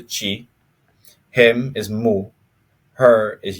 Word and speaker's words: ci: You is changed to chi.